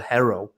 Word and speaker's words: Herro: So, and just a side note as well on Tyler Herro. Is that how you pronounce it?